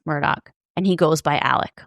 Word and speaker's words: Alex: And the man at the center of this case, his name is Alex, but he it's spelled a l e x. And he pronounces it Alec.